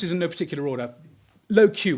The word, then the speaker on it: LoQ: We then own, and this is in no particular order, low Q. We had to spell it out. It used to be LOQ, for those of you that remember.